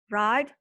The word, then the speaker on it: write: Write, wrote, written. W-nya nggak dibaca ya, W-nya silent letter, nggak dibaca.